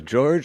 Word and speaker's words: Jorge: which one you prefer people say both but Jorge is uh correct pronunciation okay because as soon